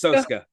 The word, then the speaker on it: Soska: badass badass Jen and Sylvia saska sashka soska it's pronounced soska just to and I when I say badass